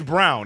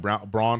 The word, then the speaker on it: Braun: So it's Brown. It's spelt Braun, but it's pronounced Brown. I listened to Mike Breen go into a full soliloquy about how Christian Brown understood why people said Braun for so long, but it's actually pronounced Brown.